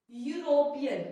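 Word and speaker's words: European: दिया है यहाँ पे, बट ई लिखा है, बट हम पढ़ क्या रहे हैं इसको, यूरोपियन। क्या है, ई इसमें क्या है गाइस, साइलेंट है। ई बेशक इसमें लिखा हुआ है बट ई क्या है, इसमें साइलेंट है।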